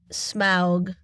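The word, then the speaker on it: Smaug: But so can we I'll just ask the question, my literal last note is why would Smog I have to say it like that smog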